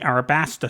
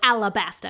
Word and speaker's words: Alabasta: the stage for the Arabasta saga. Most people call it Alabasta, because that's how it's said in the anime.